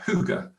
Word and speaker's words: hygge: That's how you pronounce it, hygge.